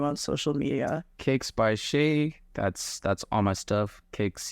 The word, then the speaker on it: Shea: Kicks by Shea. That's all my stuff. Kicks KICKSBYSHEA SHEA like the butter.